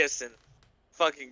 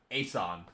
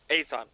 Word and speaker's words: Asan: like you role play as in great it's actually pronounced asan is it yeah that's not how it's about sorry a-sun i will remember that no